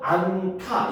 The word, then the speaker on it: 않다: 나는 그것을 하지 않다 할 때도 안타 이렇게 되잖아요.